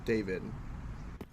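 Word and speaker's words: Dawid: not my intention because it's spelt da wi d bit pronounce David mmm it's probably your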